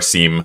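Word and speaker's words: SIEM: the sim as well sim or seem people pronounce that differently but that's like s-i-e-m so basically it was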